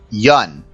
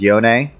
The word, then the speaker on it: Yone: So, interesting situation here is Coleman has been learning Yun, also known as Yone. But Yun, like none with a Y, is the official Peter Holman pronunciation.